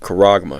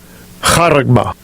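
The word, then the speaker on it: χάραγμα: All right, it's the Greek word charagma, Strong's G 5480. Okay, good pronunciation of it. Strong's G 5480. Charagma.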